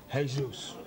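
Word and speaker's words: Jesús: It's spelled Jesus. It's pronounced Jesus.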